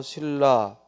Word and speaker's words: 신라: 라는 거죠 그래서 신라를 로 멎어 로 옮기면 발음이 유마가 일어나서 신라 그러면 이걸 로마 조롱 일대 si 그리고 la